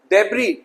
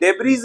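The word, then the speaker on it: debris: डेब्री, डेब्रीज नहीं, डेब्री कूड़ा।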